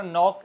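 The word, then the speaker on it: knee: नी के अंदर भी के साइलेंट, NEE, नी बोला जा रहा है।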